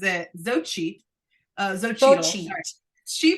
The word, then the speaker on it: Xochitl: Xochitl.